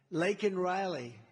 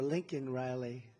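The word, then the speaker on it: Laken Riley: the Biden migrant crime Lake and Riley and you know uh Biden was unable to pronounce her name called called her Lincoln Riley and this was right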